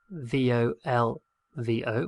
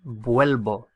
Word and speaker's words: vuelvo: It should be volvo, V-O-L-V-O, volvo, but there's a lot of pressure on that syllable with the O. Vol. And it gets stressed out. And it stresses out to the extent that it turns into UE. So I return is vuelvo, vuelvo, V-U-E-L-V-O, vuelvo.